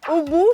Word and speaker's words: UwU: Ubu se pronuncia ubu o ugu, como tú prefieras, pero la explicación de todo esto nos lleva a 2013.